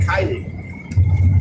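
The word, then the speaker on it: Kiely: It's just how it read how it reads, but it's not how it's pronounced. His name is K I E L Y. Kylie.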